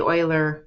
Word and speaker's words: Euler: It's like co she and Oiler.